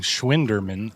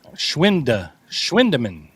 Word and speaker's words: Schwindeman: I'm not saying Schwinderman. Schwindeman. Ah, I see. It's the German pronunciation, Joe.